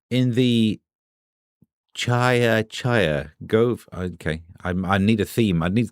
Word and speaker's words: Gove: Why does dove rhyme with glove, but gove rhymes with stove?